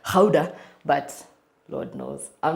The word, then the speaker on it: Gouda: Apparently, it's Dutch. It's supposed to be pronounced Gouda, but Lord knows, I'm not going to say that.